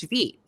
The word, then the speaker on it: Vite: it's called V because it's following the French pronunciation right rather than uh English so and I prefer